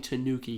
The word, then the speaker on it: Tanooki: see this this full-fledged Tanuki I've only ever seen a Mario so the reason also it's spelled Tanooki so oh it's not I'm a stupid idiot it's a Japanese raccoon